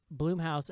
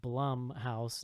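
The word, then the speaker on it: Blumhouse: clinton-esque Senator played by lost Juliet uh P.S Bloom house apparently it's actually pronounced Blum House not bloom house according to Mr blum's intro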